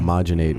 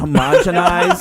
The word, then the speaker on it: homogenize: homogenate, which is a cross between what you do with milk and what you're supposed to That's say. homogenize.